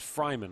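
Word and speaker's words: Freiman: I think might have pronounced his name Freeman. It's actually pronounced Fryman, almost like Travis Fryman, the former Indian.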